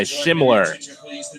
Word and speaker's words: Schimmoeller: Looking at his last name, wasn't quite sure that's how you pronounce it. He's going to spell it Schimmoeller. Looks like Schimler, but just goes by Schimler.